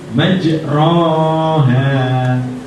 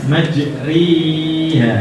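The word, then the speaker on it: مجريها: Maka kita baca alif majroha, kita bacanya majriha, ini mendekati ri. Jadi bacaannya majriha, harus dengan agak meringis.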